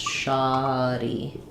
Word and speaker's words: shoddy: the a sound, sha, shoddy. Um, so I would rewrite it with ah, and then my e sound I will rewrite with e. So, you're going to see that as first syllable stress, shody.